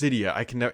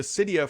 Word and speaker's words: Cydia: But the bigger news in the tech sector this week is, I believe it's pronounced Cydia.